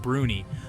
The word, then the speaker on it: brownies: the heart of Scotland brownies pronounced bruny are tiny benevolent fairies